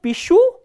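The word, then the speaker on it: пишу: So, here the stress is on the ending. The ending is stressed and the stem ends with a consonant sh. So, pishu and pishut.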